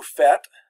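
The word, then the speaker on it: faites: but here it's vous fete the S is silent and then the illa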